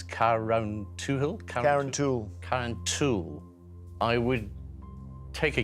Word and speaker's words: Carrauntoohil: I've never heard of Mount Brandon, and I don't even know how to pronounce Carrauntoohil? Carrauntoohil.